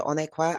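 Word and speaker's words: Onuekwa: My name is Onqua. I'll spell that for you.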